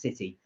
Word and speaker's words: Citi: oh you were citi i've heard of citi was it pronounced city uh yes permanent roles are given